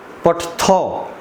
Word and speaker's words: पठथः: यहाँ पर ध्यान रखेंगे, इसको बहुत बच्चे पठत पढ़ते हैं, लेकिन यहाँ पर थ में अ स्वर लगा हुआ है, तो इसलिए हमको थ का पूरा उच्चारण करना चाहिए, पठथौ।